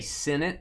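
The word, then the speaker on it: Sinnott: I've been told to say Senate. I don't really want to do that, but apparently that's how you say it.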